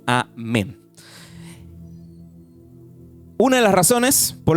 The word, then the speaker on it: amén: es la transliteración que entonces, o sea, amén se escribe en hebreo así y se pronuncia así mismito, amén.